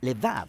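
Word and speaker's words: לב: Vamos a explorar la cuarta palabra clave en esta oración, corazón, que en hebreo a veces se pronuncia levav o con mayor frecuencia de manera más breve, lev.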